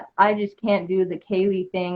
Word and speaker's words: Caleh: My name that my mom gave me is Kaylee. Just Kaylee, but it's spelled the same way, Caleh, or no, it's Caley,